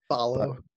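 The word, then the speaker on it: Ballo: How you pronounce his name? Balo.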